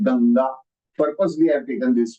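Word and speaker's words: गङ्गा: As a result, it is pronounced as Ganga, Gang. Punctuation on your nose. Ganga, Ganga, Ganga.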